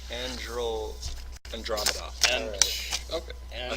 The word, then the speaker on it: Andromeda: I mean, how do you go right from Earth to the Andromeda galaxy? Like I said, it's a shortcut. It's a big shortcut. Hey, Deets. I believe that's pronounced Andromeda.